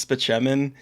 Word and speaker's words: Spaceman: my oh Spaceman and his name actually is Spaceman it's just pronounced spean because of course Dr